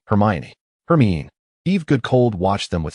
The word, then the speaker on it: Hermione: Ron grumbled as he watched Hermione andrumb conversing at another table, seemingly engaged in teaching him the correct pronunciation. Hermione, it's Hermione. Hermione. Her mean Eve.